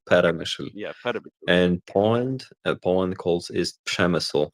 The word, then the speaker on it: Przemyśl: Somebody please correct me on the pronunciation of that. I really don't know Polish, unfortunately. Przemyśl.